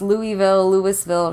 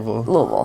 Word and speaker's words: Louisville: I always say as if you've had a couple shots of whiskey already. Oh, yeah. And you just kind of slur your words just a little bit. Yeah. Louisville, good place to visit.